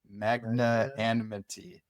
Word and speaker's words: magnanimity: English word is magn magnanimity. I always say it wrong. Magnanimity. That's Yeah. Yeah. But it's an a but you pronounce it like an I.